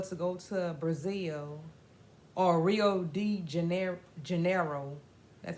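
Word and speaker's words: Rio de Janeiro: was they were to go to Brazil or Rio D Jan Janeiro that's how you pronounce it a place in brazzil and they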